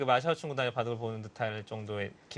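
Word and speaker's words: 马晓春: 마효춘이라고 이제 저희는 불렀었고, 서비평, 네. 임해봉, 이렇게 이름을 이제 했었는데, 그게 다 이제 중국식 발음으로 이제 바뀌었죠. 네웨이핑, 뭐, 마샤오춘, 린하이펑, 뭐 이런 식으로.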